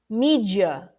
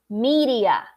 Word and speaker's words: media: The D is pronounced very quickly, almost like an R. They don't think that there is any resemblance, all right? But in Portuguese, that's the closest sound that we can refer to. Media.